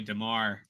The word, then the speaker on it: DeMar: The announcer, if you guys are watching the game, he got the name wrong on the keeper. That's actually DeMar.